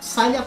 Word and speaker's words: Saileach: it is okay what's the correct pronoun sailia i'm not kidding it's silent pronouncing it name and irish you they're called an irish they're called sally trees on sally that's a pronunciation um thank you i'll